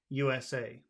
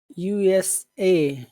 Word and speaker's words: USA: u n u n you always put the final letter you put the emphasis how about USA uh USA yeah USA so okay